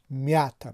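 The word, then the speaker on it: мята: زده در هیجای اول در بالای حرفی ی افتاده است. به همین دلیل هم هیجای اول میا بلندتر نسبت به هیجای دوم تا تلفظ می شد، یعنی میاتا میگوییم. ما نمیگوییم که میاتا، ما میگیم که میاتا در زبان روسی.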